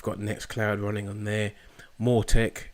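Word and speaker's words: Mautic: We've got Nextcloud running on there, Mortec, which is the, I think it's Maltec it's pronounced, which is our automated marketing system, and Odo, which I haven't finished installing yet.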